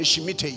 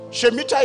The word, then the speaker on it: Shemitah: Why will a bank that will redeem Christians be born in a Shemitah year?